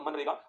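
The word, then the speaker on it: MGNREGA: चाहिए और वो है मनरेगा। तो आप लिखिए, फटाक से लिखिए, लगाइए मनरेगा हेडिंग। शायद नाम तो आप सभी ने सुना होगा इसका, मनरेगा। इसमें जी साइलेंट है ना, इसमें जी साइलेंट होता है।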